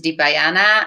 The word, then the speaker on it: Dipayana: pronounce it exactly well the pronunciation is and then my surname is deepayana however it's very rare